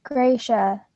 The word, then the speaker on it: Gracia: Talking about pronouncing Gracia? It's Gracia. Gracia.